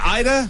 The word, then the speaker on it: Ayda: our business uh card here yes is it Ida it's pronounced Ida that's correct Ida a y da yes Ida